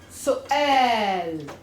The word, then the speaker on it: سؤال: It's a long U and then a hamza with a fatha on it. And it's actually su'al.